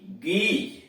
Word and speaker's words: geese: इसमें देख रहे हैं कि इनके बाद यानी जी के बाद ई भी आ रहा है, आई भी आ रहा है, फिर भी उच्चारण इसका गो हो रहा है।